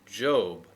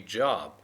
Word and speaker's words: Job: a kind of a segment and this is pronounced job but it looks like it should be job right um but it's it's job okay so you just have to accept it